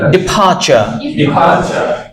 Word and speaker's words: departure: Right, ডিপারচার, ডিপারচার। আকাশ আমরা এটাকে কি বলবো? ডিপারচার। রিভানা কি বলবো? ডিপারচার। আর উচ্চারণটা করবো না, বলো ডিপারচার, ডিপারচার।